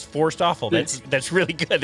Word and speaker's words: Forsthoefel: pronounce your last name you gave me really great mnemonic advice forced awful that's that's really good